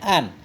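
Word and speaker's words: أن: Qauluhu an waffaqa bi fathil hamzati ala takdiril lam. Bacanya an. Kita takdir lam li an waffaqa. Berarti ada huruf jar masuk kepada an, berarti mesti an.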